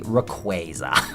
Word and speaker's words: Rayquaza: And to finish off our little news show here, an official pronunciation of Rayquaza. Well, it's actually Rayquaza.